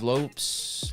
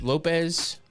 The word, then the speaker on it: Lopes: fight uh saani versus Lopes Lopez I think it is because if he's like Diego Lopez it's Lopez just spelled with an S uh light heavyweight division